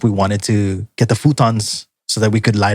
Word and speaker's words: futon: And the mother was asking us if we wanted to get the futons so that we could lie down because we were really tired. But she pronounced it the Japanese way, which is futon.